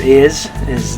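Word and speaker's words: hay: Okay, we'll talk more about this later, but the letter H, just so you know for this one, the letter H is always silent in Spanish.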